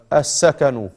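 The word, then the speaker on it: السكن: As-sakanu. Say, as-sakanu. You don't pronounce the lam.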